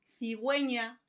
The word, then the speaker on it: cigüeña: Hay excepciones en los que la letra U se pronuncia. En esos casos se pone 2 puntos encima de la U y a esto se le llama diéresis y tiene sonido y pronunciación. Vamos a ver ejemplos. Cigüeña, pingüino, vergüenza.